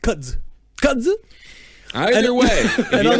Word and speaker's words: kudzu: I think it's pronounced kudzu.